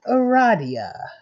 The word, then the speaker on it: Aradia: invitation let's do this it is pronounced Aradia let's do this I